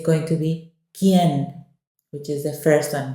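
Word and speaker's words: qué: with an accent okay that U is silent it's just k k is what is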